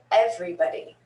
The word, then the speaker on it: everybody: whenever whenever 10th 10th everybody everybody everybody don't stick some tricky ones in there and the oh in buddy in this instance is a schwa that's why i taught